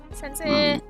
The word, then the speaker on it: sensei: Sensei. Sensei sexy. Sensei. It's I'm going to be the actually person, and I'm so sorry, but I am like learning Japanese, so it's pronounced sensei, not sensei.